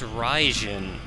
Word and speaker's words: Raijin: Now, our statue there is of, I believe it's pronounced Raijin, the Thunder God.